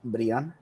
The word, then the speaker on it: Brian: on the podcast that his name is pronounced Brion but he just says Brian because that's what everybody calls him so if you watch